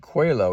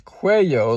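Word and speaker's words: cuello: I pronounced it quo. It's quo like with a Y.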